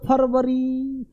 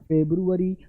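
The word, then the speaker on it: February: बोल पा रहे हो, अब तुम बोलोगे फरवरी तो स्पेलिंग गलत होगा, फेब्रुअरी, तो अपने आप फेब्रू FEBRU आ गया ना, तो फेब्रुअरी फरवरी, ठीक है।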